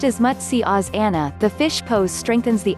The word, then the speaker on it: matsyasana: spinal strength and enhances the overall body balance pronounced as much see Oz Anna the fish pose strengthens the upper back and